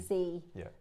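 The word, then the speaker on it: dzi: Um so it's it's written dz i, but you pronounce it z. So it's z. Think about the instead of doing a the you do z.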